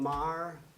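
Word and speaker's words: Mayer: sont venus à Destrehan, des noms comme Mar. Il y en a qui spellent ça M-A-Y-E-R, il y en a qui M-I-E-R. Mais Ah ouais? c'est tous les mêmes.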